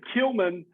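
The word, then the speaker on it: Klieman: you say his name is it killman killman all right killman the Kansas State coach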